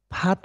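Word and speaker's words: 밭: वानको उच्चारण गर्छु है वानको उच्चारण चाहिँ फात हो नर्मल तरिकाले त्यसलाई फात उच्चारण गरिन्छ फात हेर्नुहोस् त त्यसलाई फात पढिन्छ अर्कोलाई चाहिँ फात अलिकति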